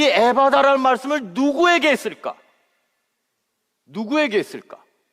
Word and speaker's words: 에바다: 그 다음에 성경에는요, 예수님이 그에게 에바다라고 외쳤다고 기록하고 있습니다. 물론 제가 이 발음을 잘 해야 돼요, 그렇죠? 에바다 그러면 안 되잖아. 산부인과 의사도 아니고. 그러니까 이게 영어로 하면 에파타 이렇게 말해야 되는데 한국말로 제가 발음을 좀